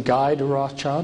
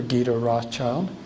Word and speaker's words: Guy de Rothschild: And this is, you can pronounce his name Guy de Rothschild or Guy de Rothschild, if you want a more French pronunciation, Guido.